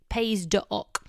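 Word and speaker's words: Pays d'Oc: on a label is paydoc so it's spelt pays with an s on the end d apostrophe oc pays doc you want to look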